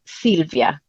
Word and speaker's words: Sylvia: problem at all but in Italy we would pronounce it Silvia okay that's a beautiful